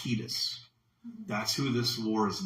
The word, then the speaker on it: Quietus: Despite the calming implications of his name, Quietus, let me spell that for you, Q-U-I-E-T-U-S. Quiet with us at the end, quiet. But it's pronounced Quietus.